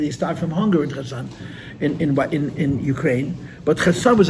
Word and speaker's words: Kherson: So the Mitteler Rebbe asked from the government to be given land in the Ukraine, in a place called Khersoner. which is spelled K-H, Kherson, it's spelled Kherson.